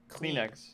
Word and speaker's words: Kleenex: like clean Colleen X Kleenex cleanix it's like the word clean and then that's spelled with a K and no a yeah a bunch of